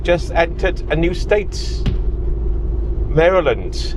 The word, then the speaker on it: Maryland: Maryland.